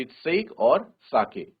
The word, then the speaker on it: sake: देखो यहाँ पे कहा भी है कि सा को प्रोनाउंस करा जाएगा, जैसे फादर में फा को प्रोनाउंस किया जाता है, और के को प्रोनाउंस किया जाएगा जैसे हम वे बोलते हैं, तो वैसे तो क्या बनेगा बच्चों? साके। तो we will call it एज साके, नॉट सेक।